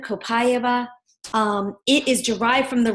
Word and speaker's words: copaiba: co Pai be a lots of people are trying to figure out how to pronounce it I'm going with copaiba kind of copaiba it is derived from